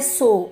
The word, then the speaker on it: sew: SEW की pronunciation है सो और इसका मतलब होता है सिलना, यानी सुई धागे को लेकर किसी कपड़े को सिलने को हम कहते हैं सो।